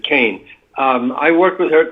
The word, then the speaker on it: Kean: okay um anyway yes leslie kane she pronounces it kane um i worked with